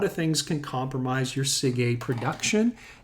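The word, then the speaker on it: SIgA: it's called secretory iga or it's abbreviated sig sig is how we pronounce that and sig a is a molecule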